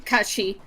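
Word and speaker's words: cait sidhe: How do you say um C A I T and then like S I D H. That like creature. Kachi. Kachi.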